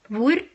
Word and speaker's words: hvor: But it will be silent if immediately followed by either je or the. hjem, hvor, hva.